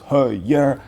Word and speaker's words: Heuer: But yes, it's the Heuer part which can be a little bit complicated, so think of it as Heuer, Tag Heuer, Tag Heuer.